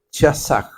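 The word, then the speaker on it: חזק: La palabra canciller es una palabra hebrea que se escribe chazaj.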